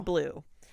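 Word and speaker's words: Bleuw: spell it oh yeah his last name is b l u b b-l-e-u-w blue but it's blue um so Jennifer had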